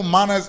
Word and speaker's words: manas: Manas is manners. Yeah. Right, Manas, exactly. yeah. Plain and simple, manas is manners. Yeah. But that's just an accent. So the way it's pronounced is manas.